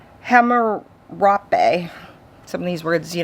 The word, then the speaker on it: Hammurabi: I'm going to be getting a copy of the Law of Harambe. I can't pronounce it right. Hammurabi.